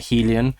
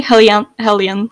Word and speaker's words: Helian: Is it the name Helian, right? We talked before the podcast and mentioned how like Bendo, for example, pronounces it Helian, which and I nearly started pronouncing it wrong. I'm glad I stuck with Helian because otherwise I would have followed suit with him.